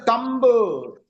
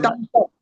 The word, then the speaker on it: thumb: Uh we should not say thumble. Thumble. It is thumb. Thumb. Thumb. Thumb. That's why we say thumble.